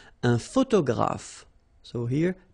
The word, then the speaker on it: photographe: So here PH and here PH. Pronounce it like F, f, f, f. Photographe. Okay. Same thing here. This you don't insist on it. You only pronounce this f at the end.